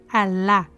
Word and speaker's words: Alá: de Leste Oriente H alá pronome que significa aquele os árabes dobram a letra L pelo seu Lan Alive pronunciando este nome Alá essa mesma estrela hexagonal